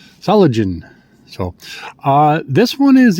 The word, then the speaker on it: Solingen: Saligen. I'm trying to pronounce it like they do. Salagen.